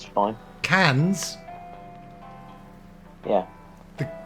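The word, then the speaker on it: Cannes: the reviews it's fine cans yeah the the cans Film Festival there's an s on there yeah but we don't pronounce that s do we Mike don't me any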